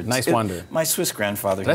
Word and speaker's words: Niswander: Talking to, Niswander. But it's Niswander. Distinct nice and wander. Niswander.